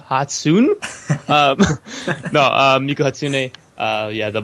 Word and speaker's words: Hatsune: title refers to miku hats how do you pronounce it hatsune hatsune no um uh yeah the blue haired vocaloid